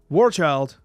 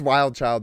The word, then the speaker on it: Wild Child: Warchild, 2/1, reading, it's ongoing. Child, by the way. Sorry? Said it's Wild Child, by the way. Am I saying the name wrong again?